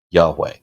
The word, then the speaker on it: YHWH: So all we have is YHWH, and a lot of people pronounce that Yahweh.